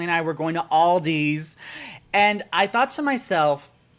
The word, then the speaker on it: Aldi: were like justin there's this new store called aldi's and i'm like what and they're like yes